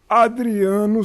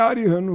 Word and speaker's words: Ariano: disse adrià a de você disse adriano suassuna e meu nome é ariano visto ao contrato mas